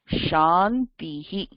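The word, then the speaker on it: शान्तिः: Sha, Shantihi. Shantihi, Sha. Sha, Shantihi. எல்லாரும் repeat பண்ணுங்க. Sha, Shantihi. So இது எங்க இருந்து சொல்லுவா? This is your palatal sh.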